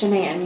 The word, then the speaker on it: Shanann: So, I understand that you are pretty good friends with Is it Shannan or Shannan? It's Shenan. You pronounce it like Shenanigans.